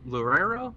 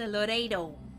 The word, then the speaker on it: Loredo: Uh, Lorero. Oh my god. Is that right? Close. I was like, what are you white people say? Loredo. My girl.